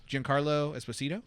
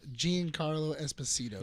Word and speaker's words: Giancarlo Esposito: How do you pronounce his name? Giancarlo Esposito. Giancarlo Esposito.